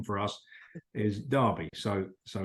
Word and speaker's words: Derby: speak English here but the football team is pronounced Derby County as well so the pronunciation for us is Derby so so it's a it's a derby well